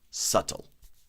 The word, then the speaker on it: subtle: We have the word subtle which is um uh which has a silent sh in it that you don't pronounce subtle right and subtly right means without people noticing.